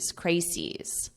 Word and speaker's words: crises: The crises. Crises is the plural form of crisis. So it's an irregular plural.